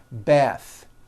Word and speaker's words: bath: The word bath is a noun with an unvoiced th. Bath. But when you change it